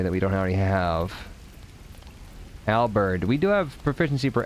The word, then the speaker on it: halberd: Halberd. We do have proficiency for halberd, right? Halberd. I think it's like you actually pronounce the H.